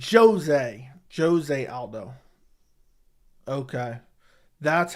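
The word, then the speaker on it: José Aldo: not even top 15 Brazilian Portuguese pronounced Jose with a hard jay okay so I say Jose Aldo and it's supposed to be Jose Aldo I don't remember I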